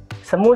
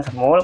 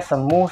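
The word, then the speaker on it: 스무: adik perempuannya umurnya berapa semua sehari heo 20 tahun Kenapa bukan semul karena ini pengecualiannya ketika kita mengungkapkan umurnya 20ma karirnya dihilangkan langsung saja kita semua saat pengucapannya semua staf bukan semul saat tapi semut Salehah teman-teman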